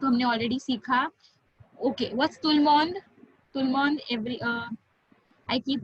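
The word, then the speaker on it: tout le monde: But we don't pronounce it tooth ल mond. एक flow में बोलते हैं तुलमोंद. तो बीच में ब्रेक्स नहीं लेना है. तुलमोंद एक साथ बोलना है.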